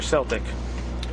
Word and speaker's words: Celtic: is how do you say a Celtic or Celtic I say Celtic okay um how long has